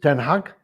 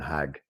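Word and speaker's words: ten Hag: me it's iax and eric is is it 10 hug 10 eric is how we actually pronounce his name but i think for the terracing he'll always be eric and hag i'm very impressed i wanted them all along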